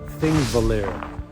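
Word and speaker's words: Þingvellir: So this location right here is pronounced, I guess, Thingvellir National Park.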